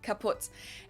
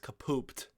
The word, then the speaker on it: kaput: moved to the us we spell it with two T's in Germany but we pronounce it the same way kaput and it basically has